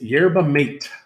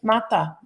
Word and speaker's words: yerba mate: So it is yerba mate. M-A-T-E. I thought it was mata, but I guess mata.